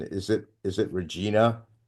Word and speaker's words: Regina: And at age 8, you travel from, I might be mispronouncing it. Is it Regina? Regina, Saskatchewan.